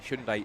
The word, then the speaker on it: Hyundai: So the field now neutralized just stacked up behind the Hyundai Hyundai should say it right. Hundai iconic race uh race car safety car and just a bit of a spite here.